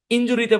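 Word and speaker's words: injury: বলি ওর ইনজুরি হইছে ইনজুরি না ইনজারি ইনজারি তো ইনজারি ওইটা মূলত ওয়াই দিয়ে আসে আমি ওয়াই টা কেন দেই নাই কারণ আমি এখানে ইউ আর বুঝাচ্ছি এই কারণে দেই নাই এই শব্দের উচ্চারণ ইনজার হ্যাঁ ওকে বুঝতে পেরেছেন আশা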